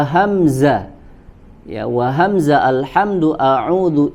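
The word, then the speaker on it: أعوذ: Kemudian yang selanjutnya adalah wa hamzah, ya, wa hamza alhamdu a'udhu ihdina, Ya, di sini yang diperingatkan oleh Al-Imam Ibnu Al-Jazari itu adalah pada huruf hamzah, ya, pada huruf hamzah pada kata alhamdu, a'udzu, ihdina, kemudian di bait selanjutnya Allahu.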